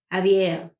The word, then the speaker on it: Xavier: was new for him his name is X a V i.e our that's pronounce Xavier few weeks later he